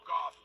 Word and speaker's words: Gauff: I said, if Coco Gauff married Jared Goff, would she then be Coco Gauff Goff? She'd have to hyphenate it, right? Yeah, Coco Gauff Goff. They're spelled differently, but still, it's pronounced the same.